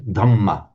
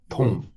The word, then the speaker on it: Dhamma: So if you hear a Thai talking about the hum or the tom, he's talking about the Dhamma, tom.